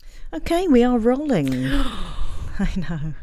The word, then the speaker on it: Rowling: a lot of people say rowling. Oh. It's rolling. Talking about Rhymes with bowling.